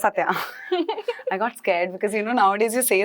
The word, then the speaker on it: Satya: That's Yes, it's Satya.